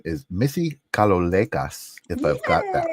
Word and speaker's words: Kalolekas: Her name is Missy Kalolekas, if I've got that right. Welcome to the holding space. Is that correct? You did it, yes. Kalolekas.